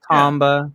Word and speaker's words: Tomba: on the PlayStation one first of all it's Tomba please say it right Tomba Tomba I'm sorry